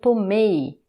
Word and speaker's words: tomei: E o passé composé, pretérito perfeito, la syllabe forte et la dernière, ça devient eu tomei, eu tomei.